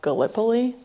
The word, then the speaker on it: Gallipoli: And then I also know there's something about Gallipoli, I think is the right way to pronounce it.